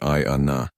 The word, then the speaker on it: Ayana: "Ayana," she replied, pronouncing it I-A-Na.